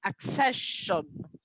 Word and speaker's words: accession: the usual problem yeah when you have double c and you put the sum x okay accession accession okay so the accession